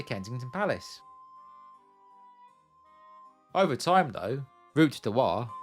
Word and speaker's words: Route du Roi: Over time, though, route du roi morphed into Rotten Row, most likely due to Londoners butchering the French pronunciation.